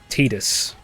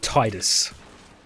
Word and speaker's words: Tidus: I've been pronouncing it Tidus for the longest time, and it's never pronounced